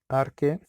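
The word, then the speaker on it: Archaea: Los dominios que él nombró para Monera son bacterias muy antiguas, arche, se escribe archae, bacteria, que son bacterias muy antiguas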